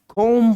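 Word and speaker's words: comb: नहीं development development अगला इसको हम कोम नहीं बल्कि कोम पढ़ते हैं बी साइलेंट होता है जो लास्ट में आता है यह टोमेटो नहीं बल्कि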